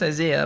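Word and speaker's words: Isaah: name is isa it's pronounced isaiah but if you haven't noticed it's spelled a little funny it's spelled i-s-double-a-h i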